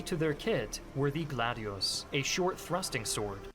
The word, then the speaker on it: gladius: Key to their kit were the gladius, a short thrusting sword. Gladius, not gladios.